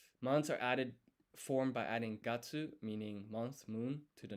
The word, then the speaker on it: 月: And as you may have noticed, each month just ends in gatsu, gatsu.